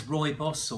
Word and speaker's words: rooibos: So this is rooibos or red bush or bush tea or red bush tea. People pronounce rooibos lots of different ways, but that's how I say it.